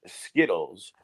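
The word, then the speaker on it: Zkittlez: marijuana strain and it's spelled z-k-i-t-t-l-e-z but it's pronounced skittles i mean if there's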